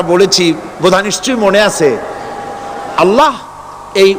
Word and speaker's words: আল্লাহ: বোধ নিশ্চয়ই মনে আছে আল্লাহ এই উচ্চারণটা আমাদের অনেকের হয় না কেউ বলে না আল্লাহ আল্লাহ পাকের উচ্চারণটা হচ্ছে আল্লাহ পাকের নাম হচ্ছে আল্লাহ মুখটা একটু গোল হয়ে যাবে বলেন আল্লাহ [চিৎকার